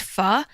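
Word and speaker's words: phở: so much in it spelled pho but it's pronounced fuh and it's this like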